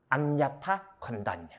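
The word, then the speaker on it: Aññāta Koṇḍañña: 줄여갖고는 안냐, 콘단냐로 쓰는데 갖추어진 이름은 안냐타, 콘단냐입니다. 안냐타, 콘단냐. 장음이 이쪽에 오죠.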